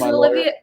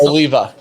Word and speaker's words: Oliva: no yeah no there's olivia oh wait shoot i keep saying it wrong what is it oh oh how do you say that again guys oliva oliva oliva okay i don't think there's